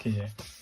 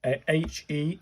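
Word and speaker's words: へ: This one is H-E, as in Helen. So it's a he, and it's a he sound, I suppose.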